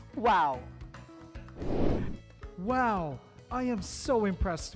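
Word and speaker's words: wau: uniquely designed malaysian kite its wings are similar to an arabic letter pronounced as wow wow i am so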